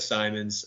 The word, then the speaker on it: Simons: It's pronounced Simons, by the way, just so we're all clear.